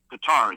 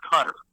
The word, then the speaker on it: Qatar: And remember it's qua t a r I believe how it's spelled. Qatar. It's not cutter.